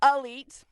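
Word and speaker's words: Alite: Raj, you could truly tell people that you're weed specialist, so it's spelled like elite, but with an A at the beginning, elite.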